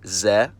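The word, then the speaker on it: з: it's also a letter it's called Z and it takes the sound of the English letter z z to remember the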